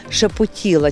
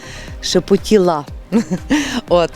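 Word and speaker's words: шептала: засушують і дуже гарно вони називаються шепотіла тільки наголос ставиться на букву А останнє шепотіла гарно така назва і також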